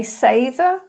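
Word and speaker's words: seiðr: So I have a Sather page, and that is called the Sather's Witch Apprentice.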